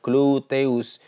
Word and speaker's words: gluteus: Misalnya pada gluteus maximus, ya, pengucapannya gluteus, yaitu otot pada bagian pantat yang besar, ya.